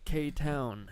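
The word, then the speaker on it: KTown: K Town, not clown.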